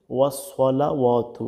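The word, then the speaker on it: والصلوات: এরপরে দেখুন ওসলাওয়াতু এখানে ম্যাক্সিমাম মানুষই ভুল করে থাকে। দেখুন এই সরটার উচ্চারণ করে না। এখানে সিন দিয়ে বলে কি বলে? ওয়া সালাওয়াতু। ওয়া সালাওয়াতু সালা এটা সম্পূর্ণ কিন্তু ভুল এখানে কিন্তু সিন হয়ে যায় তাহলে বলতে হবে ওয়াস সলা ওয়াতু সদ দিয়া স্পষ্টভাবে বলতে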